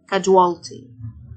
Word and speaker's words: casualty: السيو تنطق الجه، casualty.